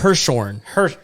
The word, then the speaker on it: Hirschhorn: Hirschhorn.